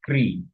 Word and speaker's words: কৃ: এটা উচ্চারণ কি হবে? ক্রি। হ্যাঁ, এটা ক্রি উচ্চারণ হবে, ক্রি।